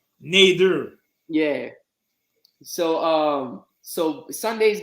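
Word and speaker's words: Nader: you still rocking with me it's n-a-d-e-r neither yeah so um so sunday's games bengals and pronounced joe burrow will not play who you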